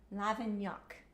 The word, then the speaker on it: Lavignac: Okay, he says, yes, you pronounce the final C like K. Lavignac.